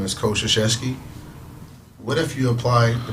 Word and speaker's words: Krzyzewski: But Coach Krzyzewski had a great career, man.